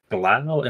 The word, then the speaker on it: Glau: Glau. Rhymes with now. Glau and Thalia.